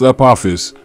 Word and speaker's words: Apophis: conferences how to pronounce Apophis Apophis is pronounced up office generally with an emphasis on the second syllable click here to listen